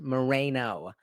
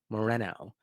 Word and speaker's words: Moreno: may to say that it's not pronounced Moreno, it's Moreno.